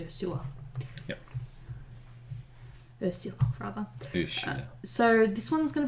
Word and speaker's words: Ursula: she preferred I think the pronunciation of her name was a sewer so if accidentally said Ursula please forgive me it's actually a sewer yep so this one's